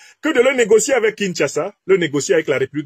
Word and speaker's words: Kinshasa: de Kagame a clairement dit à kinsasa et on me dit qu'il faut prononcer Kinshasa a clairement dit à